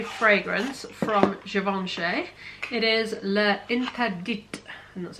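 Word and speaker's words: L'Interdit: It is Le Interdit, and that's how you pronounce it.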